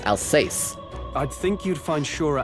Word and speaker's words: Alsace: I gotta practice that pronunciation. Alsace. Alsace. Not Alsace. Alsace.